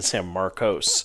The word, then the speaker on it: San Marcos: I've been saying San Marcos. So that's how locals You said you're you've been naturalized, right? And so you are technically a local. That's how locals say it's San Marcus.